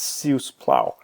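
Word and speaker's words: si us plau: to say please it's it's kind of the similar construction to French C uh it's suus plow and so the way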